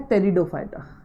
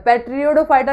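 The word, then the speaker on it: Pteridophyta: Third type जो होता है वो होता है टेरिडोफाइटा, टेरिडोफाइटा। थर्ड टाइप जो होता है वो होता है टेरिडोफाइटा, थैलोफाइटा, बैरोफाइटा, टेरिडोफाइटा। ये पी ना साइलेंट रहता है इसमें, याद रखना पी साइलेंट रहता है। पेट्रियोडोफाइटा नहीं होता, टी साइलेंट रहता है।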